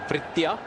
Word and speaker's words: Vrithya: It is, how do you pronounce that first name? Eurythia Arvind? Is that the right name? Yeah, it's a Vrithya. Vrithya, okay. Vrithya. It's a V, right? I saw it like a U.